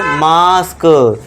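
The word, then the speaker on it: mask: अब ए के बाद एस के है तो उसे क्या पढ़ेंगे, मास्क।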